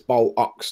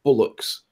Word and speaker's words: bollocks: and to say that it's an O, which is B-O-L, bol, and then ox is O-C-K-S, ox. So it's bol ox, not bullocks.